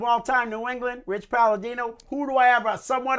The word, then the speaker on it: Palladino: Howard Finkel or Rich Palomino? Okay. I gotta let you know something. You say his name wrong. What am I saying? Palladino. Palladino. Palladino.